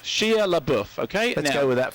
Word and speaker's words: Shia LaBeouf: Shia LaBeouf. Shia LaBeouf, okay? Let's go with that for the moment. So Shia LaBeouf is this character who seems just like a